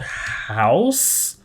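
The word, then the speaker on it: Houzz: it up it's called house it's called house but it's spell it's spelled with two z's so it's h o u z dot com and they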